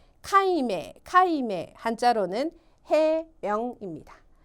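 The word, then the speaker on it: 解明: 발음은 카임메 카임메 한자로는 해명입니다.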